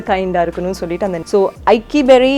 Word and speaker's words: Iykki: So how to pronounce it? So everyone asks me. So Aiki வேற ஒன்றும் இல்லை, ரொம்ப கஷ்டமான வேர்டு இல்லை, தமிழ் பெயர், தூய தமிழ் பெயர். ஐக்கியம் சொல்லுவாங்கள்ல, யூனிட்டி, அதிலிருந்து கஷ்டப்பட்டு தேடி கண்டுபிடிச்சி வச்சது தான் ஐக்கியா.